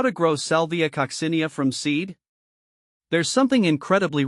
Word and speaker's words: Salvia coccinea: a sound cinia kosia the emphasis shifts to the second syllable here the the co is